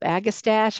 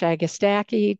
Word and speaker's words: agastache: Lavender hyssop, agastache, agastache. Talk to 10 different horticulturists, you'll find 10 different pronunciations.